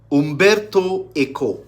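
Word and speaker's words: Umberto Eco: Mund paban interviewing um Umberto EO that's how you pronounce it Umberto to Italian because he's an Italian um uh writer Okay so have to pronounce it like that great uh writer who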